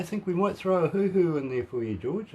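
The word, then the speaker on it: huhu: guys yeah i think we might throw a hoo-hoo in there for you george it's spelt h-u-h-u we'll figure it out john knows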